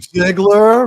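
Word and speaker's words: Zegler: Ziegler rhymes with. I'll just leave it right there. Tickler.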